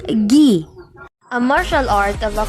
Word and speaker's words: gi: attacks the karate uniform is called agi or ghi or pronounced gi a martial art of